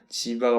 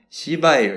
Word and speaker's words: 지바: 어 구매가 가능합니다이 지하에요 발음을 조심해야 돼요 제 친구가 이게 약간 욕 같다고 그러더라고요 지바가 말고 그 시로 시작하는 거 있죠 시할 때 시바에 신할 때 그게 아니고 지바 그래요 지바 아 제트가 발음을 좀 조심해 주시길 부탁드릴게요네이 책은 지금 인터